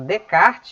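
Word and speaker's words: Descartes: René de kart né o nome dele se pronuncia em francês como de kart Você só me ouvindo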